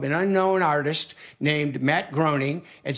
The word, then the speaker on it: Groening: And sorry, Matt, we know your name is pronounced Groening, but that's okay.